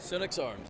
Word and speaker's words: Senex: So we are here today with, how do you pronounce this, Senex Arms? Senex Arms, yes.